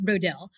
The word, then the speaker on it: Rodil: say my name because nobody knew how to pronounce my last name. How do we say your last name? Rodil.